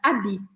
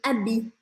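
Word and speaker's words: habits: o final da palavra o t e o s a gente não fala no final das palavras em francês então a gente fala Vet Olha a minha boca Vet e preciso terminar com essa boca que eu chamo de batata quente e abi abi também não pronunciamos o h no começo da palavra Vet abi Beleza então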